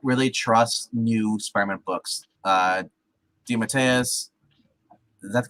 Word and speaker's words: DeMatteis: DeMatteis, is that the correct pronunciation? DeMatteis, yeah, it is tonight.